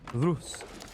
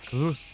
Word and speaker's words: Rus: And don't roll your R's. Listen, the Rus. I don't think that's really counts. Is that rolling an R? Rus. Rus. No, that's not a roll.